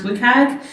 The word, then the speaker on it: WCAG: The third term is this acronym WCAG, usually pronounced WCAG, and that stands for Web Content Accessibility Guidelines.